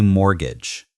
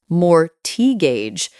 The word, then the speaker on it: mortgage: It does have a T in it, but you don't pronounce it. You say mortgage. Mortgage. So, not more gauge, but mortgage.